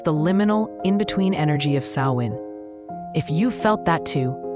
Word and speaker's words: Samhain: It's the liminal, in-between energy of Samhain. If you felt that, too, share it with me in the comments. I'd love to know how this season touches you. Let's begin at the root. Samhain, pronounced Samhain, was one of the most sacred festivals in